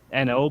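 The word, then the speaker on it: oeno: year okay it's pr it's called uh n.o beer it's spelled o-e-n-o beer um i figured i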